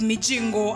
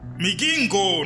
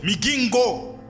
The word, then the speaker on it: Migingo: The name is Mijingo, and Mijingo belongs to Uganda. Migingo, not Mijingo. Migingo.